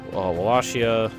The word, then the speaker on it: Wallachia: Serbia, Croatia, I think it was Wallachia. I know it's pronounced with a V.